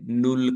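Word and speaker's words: null: जिसको हम शून्य कहते हैं उसको जर्मन में नल कहा जाता है जीरो को जर्मन में नुल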